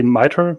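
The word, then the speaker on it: MITRE: National vulnerability database or uh I hope I'm pronouncing it correctly miter MIT yeah M that's great perfect yeah okay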